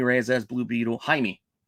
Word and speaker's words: Jaime: uh yes this is Jamie Reyes as Blue Beetle Jaime Jaime Reyes let's have been saying his name wrong forever uh but I think